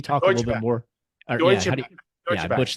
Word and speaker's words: Deutsche Bank: Deutsche Bank. I butchered that name, but go ahead. Yeah, Deutsche Bank, the German bank.